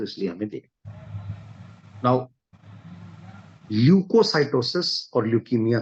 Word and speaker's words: leukocytosis: Now spelling क्या है सर? यस, LEUKOCYTOSIS, ल्यूकोसाइटोसिस। सो हम ये कह सकते हैं कि ल्यूकोसाइटोसिस refers to an increase in the number of white blood cells.